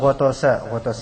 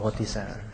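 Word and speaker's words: غطس: Walau ghotasa bacanya bukan ghotisa.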